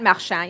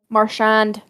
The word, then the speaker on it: Marchand: made made him freaking throw the glove at marsha you know yeah why do i say it like that every time excuse me marchand um marchand yeah you don't talk about someone